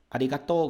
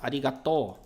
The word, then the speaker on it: arigatou: Arigatou gozaimasu. Pode traduzir isso como um muito obrigado, né? Pelo seguinte, falar só arigato significa obrigado, que é aquele que você provavelmente conhece, né?